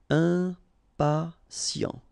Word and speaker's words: impatient: Okay, remember, final T not pronounced. And then you've got this T, I, and a vowel, so sien. Sien. Impatient.